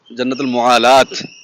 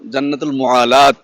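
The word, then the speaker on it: جنة المعلاة: জান্নাতুল মুয়াল্লা বলে অনেকে তবে আবার অনেকে বলেন জান্নাতুল মুয়ালাত শেষে একটা তা আছে গোল তা এজন্য জান্নাতুল মুয়ালাত আমি উচ্চারণ শুনেছি যাদের আরবদের থেকে তো যাই হোক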